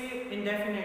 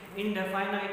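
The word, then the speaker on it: indefinite: देखिए, इंडेफिनाइट कई बच्चे इसे इंडेफिनेट बोलते हैं। You have to right it right, you have to speak it right, यानी प्रोनाउंसिएशन एग्जैक्टली क्लियर होना चाहिए। इनडेफिनेट बोलोगे तो स्पेलिंग गलत हो जाएगी, इनडेफिनाइट होता है।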